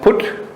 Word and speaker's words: Phut: It's originally one of the sons of Canaan, Phut, P-H-U-T, sometimes pronounced Put. So Phut or Put, and later it became known as the area of the Lubims.